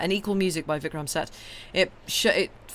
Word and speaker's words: Seth: equal music by vickram I think you pronounced his second name set but it's uh it's spelled Seth uh s e t